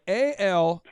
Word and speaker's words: Alain: So, yeah, it's a French name. My mom is from Brussels, Belgium. She gave me a super common name. It's pronounced Alain.